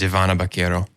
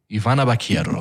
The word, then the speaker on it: Ivana Baquero: Oh yeah, Her name is Ivana Baquero. Ivana Baquero.